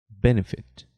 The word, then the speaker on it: benefit: Perceba que esse é só no primeiro E aqui de benefit. Esse aqui já é fechado. Ben. Esse E aqui é quase não pronunciado. A gente vai falar sobre isso já já. Tá? Então, esse é um E mais aberto.